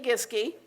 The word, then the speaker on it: Giske: So our first panelist is Giske, which she kindly told me rhymes with whiskey.